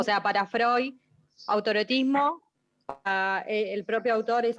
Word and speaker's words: Freud: Bloiler, como Freud se escribe Freud, y se pronuncia Freud, los nombres alemanes que van, o los sustantivos o palabras que van EU, se pronuncian hoy.